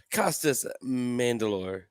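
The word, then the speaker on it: Costas Mandylor: so we also have costas mandalore that's how you say his name as dan king in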